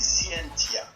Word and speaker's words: Scientia: Donc c'est Scientia la prononciation exacte. Ça se lit T, et ça se prononce C. Scientia.